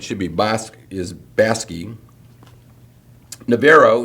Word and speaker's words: Navarro: Navarro, not Navarro. Erath instead of Erith. Not Montague is actually pronounced Montag in Texas.